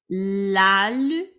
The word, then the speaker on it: L'alphabet: L'alphabet. L'alphabet. Your T is going to be silent.